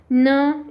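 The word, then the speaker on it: knee: न ई नी. आता पहा हे नीचं स्पेलिंग बऱ्याच जणांना ऑलरेडी माहिती आहे की पहिला के सायलंट असतो, म्हणजे त्याचा कुठलाही फोनिक होत नाही.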